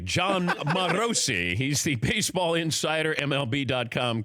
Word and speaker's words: Morosi: it is pronounced marosi John marosi he's the Baseball Insider